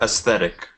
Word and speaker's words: aesthetic: barrage barage okay uh this this word is pronounced aesthetic aesthetic aesthetic aesthe and though though okay thank you